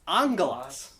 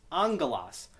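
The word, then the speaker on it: ἄγγελος: So we have those two gammas. The first one is pronounced like the which we call a nasal. It sounds kind of like an N. And then the next one after that is a gamma, so it's angelos.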